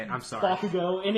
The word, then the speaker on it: Bakugo: He has a friend that is Bokugo? Well, I don't know how you say it. I'm sorry. Bakugo.